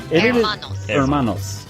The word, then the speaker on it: Hermanos: design called Los Warner Hermanos or Los Warner Hermanos you do not pronounce the h in Spanish Hermanos right anyway yeah Hermanos and it is by